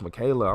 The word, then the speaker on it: Michaela: I've been calling you Michael for the last few weeks. You should have said something, Michaela. Like, no, it's pronounced Michaela. I'm like, oh, I thought it was Michael.